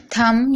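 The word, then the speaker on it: thumb: तो B silent है थम यहां पर भी आप देख रहे हैं एम के बाद बी है तो बी साइलेंट है डम यहां पर भी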